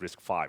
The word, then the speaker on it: RISC-V: thing now so uh the most important part is that it's pronounced risk five so it's not risk V or anything so it's uh uh